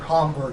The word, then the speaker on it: Hamburg: a cabell was in hamburg or hamburg as you pronounce it yeah that's the german way of pronouncing it two this is